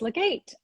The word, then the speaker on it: Legate: Alrighty, so I am going to invite on Joyce Legate.